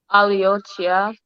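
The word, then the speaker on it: Oli otya: Aliochia.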